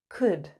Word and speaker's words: could: can't can't can't good notice the L is silent could could couldn't couldn't couldn't okay let's